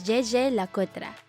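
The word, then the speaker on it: Jaeger-LeCoultre: to the german-speaking population it is pronounced as JJ Lakota however we've found that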